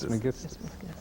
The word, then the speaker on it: Trismegistus: last time we had a lecture on the Kabbalion, and Hermes Trismegistus. Trismegistus. Trismegistus. Got it right that time.